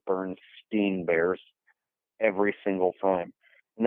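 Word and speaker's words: Berenstain: Because the difference between steen and stain is like, it seems small, but it's actually big.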